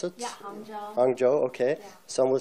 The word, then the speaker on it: Hangzhou: Is this the way to pronounce it? Yeah, Hangzhou.